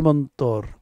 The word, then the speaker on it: mantra: Mantra is pronounced in colloquial Bengali as mantor.